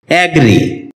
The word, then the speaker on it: agree: এটাকে আমরা এগ্রি উচ্চারণ করে থাকি, যার সঠিক উচ্চারণ হচ্ছে অ্যাগ্রি।